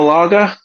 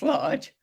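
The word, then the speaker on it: Lage: bruno is it bruno laga is it yes said like bruno large it's uh i think it's pronounced large um but yeah i mean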